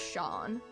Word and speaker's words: Sean: I'm pretty sure it's pronounced as Shawn. I' I've seen the same name being pronounced as Shawn before.